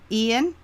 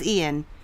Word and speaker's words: Ian: situation with Ian and I'm pronouncing it as a Hispanic I don't know if Americans say I don't even know how Americans would say it i-a-a-i-a-n is the name of the storm for me it's Ian I don't know I'm not